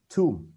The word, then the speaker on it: tomb: Tiếp theo chữ này cũng thế, ghi là o nhưng đọc là u, tomb.